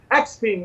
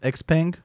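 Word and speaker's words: Xpeng: you have byd ramping new models neo leotto xping rapping new models so no i think it's pronounced x-pang but whatever so we've heard this mantra many times before i've been hearing it since 2015.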